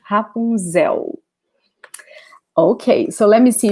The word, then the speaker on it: Rapunzel: is happy okay so remember the l in portuguese in this position ending a word will have the sound of ooh okay not a nail sound hapunzel okay so let me